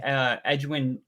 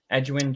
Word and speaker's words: Edgerrin: I mean, Dwight Freeney was a player that I always knew growing up, kind of like Edwin James. Edgerrin James. Edgerrin James. Yeah, I knew I was saying it wrong.